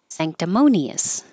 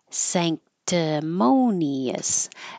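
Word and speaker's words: sanctimonious: like an N um when the N is before a k the n and that would normally be in the front sand moves to the back because your tongue is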